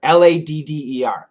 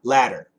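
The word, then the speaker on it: latter: So L-A-T-T-E-R, ladder, the ladder. Absolutely a flap T, and when we do a flap T, there shouldn't really be any vibration. There shouldn't be any vibration like in a D. But ladder, ladder, ladder, L-A-D-D-E-R, we can make that with vibration.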